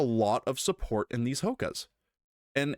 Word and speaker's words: Hoka: there is a lot of support in these hokas and it's just something that I what's H